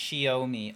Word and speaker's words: Xiaomi: It's Chinese, so it's pronounced Xiaomi.